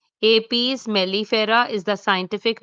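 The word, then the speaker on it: Apis mellifera: Italian B is pronounced as APS melifera. Apes melifera.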